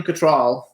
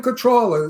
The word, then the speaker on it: Cattrall: think so too I think her name is pronounced control yeah not control people say control but it's control okay Kim Cattrall anyway let's see if we can get her